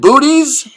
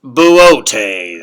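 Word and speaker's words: Boötes: Say, should we check in again with the Great Bear and Booties? It's pronounced Buotes.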